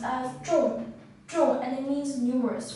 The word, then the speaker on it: 众: this character is pronounced as true true and it means numerous for them were